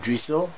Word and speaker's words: dryxhyl: nerfer uh that goes by the name of drle that's how you pronounce his name it's spelled as d r